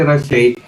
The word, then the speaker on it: Rachel: Actually, it's the way she pronounces her name is parang Rushe, okay. Rushe, something like that.